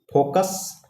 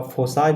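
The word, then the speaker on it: foci: फोकस का फोसाई भी होता है, इसके फोके मत करना, इसको फोके मत पढ़ना, इसका प्रोनाउंसिएशन क्या होता है, फोसाई या फिर फोक्सेस।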